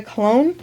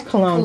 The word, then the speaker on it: Cologne: I'm here with Captain Carmen Victoria Cologne. Did I say it right? It is cologne. Cologne, like perfume.